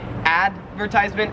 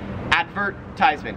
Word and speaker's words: advertisement: 31 is advertisement and the difference is like which syllable you stress so in american english we would say advertisement advertisement and in australian english you say advertisement advertise it's like there's more emphasize on the verge part when we shorten that